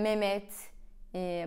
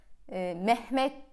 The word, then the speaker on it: Mehmet: Ben araştırdım ve H harfi söyleniyormuş. Fakat mesela Mehmet, baharat böyle diyorsunuz. Ben mesela konuşurken baharat diyorum. Ya da Mehmet diye konuşuyorum. Merhaba diyorum. Merhabalar. Merhaba. H. Yani H bile aslında okunuyormuş ve okumuyorsunuz. Neden?